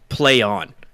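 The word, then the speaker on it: PlayOn: mall yeah uh and it is straight up pronounced play on like that is playing this play you know this is my bad yeah i know it's it is play on um and that's their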